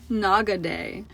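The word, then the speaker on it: Nakadake: This volcano within Mount Aso is actually pronounced Naga Day.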